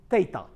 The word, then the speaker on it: theta: letter is a greek letter and is uh pronounced tata so what is the cosine ratio the cosine